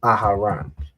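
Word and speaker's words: Aharon: The second letter is off. Aaran. Mhm. Aharan. Right. So, aaran, that's the pronunciation.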